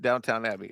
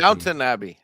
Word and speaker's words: Downton Abbey: Including the 150 that we mispronounced Downtown Abbey, or you guys did. It might be more than 150. Downton Abbey.